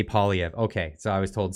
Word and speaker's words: Poilievre: It's Poilievre, like Poilievre. As long as you're not saying it with like French accents or something, then just say Poilievre.